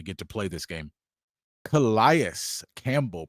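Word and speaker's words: Calais Campbell: Kias Campbell, pronounce the man's name right. It's Kias Campbell.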